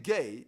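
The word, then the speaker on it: Gueye: Even gay, Idrissa gay.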